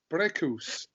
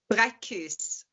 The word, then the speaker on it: Braekhus: I'm delighted to be joined by, all the way from Big Bear, California, Cecilia Braekhus. Did I pronounce that correctly? Close enough. Braekhus. Braekhus. Braekhus. Close enough. That'll do. That'll do.